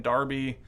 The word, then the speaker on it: Derby: on the Darby did you did you say Derby no I watched some videos and they kept saying Darby but I had I was like I don't